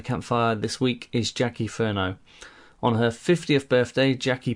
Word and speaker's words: Furneaux: the virtual campfire is Jackie Ferno have I pronounced your surname correctly well yes you've done it very well thank you perfect um